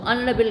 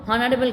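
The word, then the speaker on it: honourable: ऑनरेबल guest, HONO, ठीक है, HONOURBLE guest, GUEST. तो ऑनरेबल गेस्ट को हम लोग हॉनरेबल गेस्ट नहीं बोलती हूँ, हावर नहीं बोलती हूँ, HOUR हावर नहीं बोलते, आवर बोलती हूँ.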